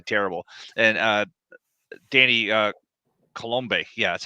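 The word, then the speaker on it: Coulombe: looked terrible absolutely terrible and uh Danny uh colombe yeah that's how you pronounce his last name he look he looked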